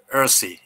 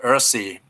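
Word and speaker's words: URSI: as i said uh you pronounce this one earthy you know earthy is the uh pronunciation of this word and the role of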